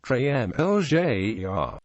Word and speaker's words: Drumelzier: Drumelzier is pronounced Drumlzier. This is due to the original Scots spelling, Drumlier, containing the letter yog, which was later erroneously confused with the tail Z.